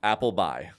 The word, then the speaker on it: Appleby: Appleby. It's pronounced Appleby, but I'm Appleby across most of the platforms.